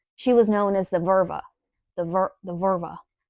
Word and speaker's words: Völva: She was known as the Völva. The Völ- the Völva. It's a hard word. It's spelled like vulva. It is not pronounced vulva.